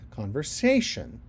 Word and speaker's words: conversation: I say conversation. I have the syllable stress on the sation, on the say of sation.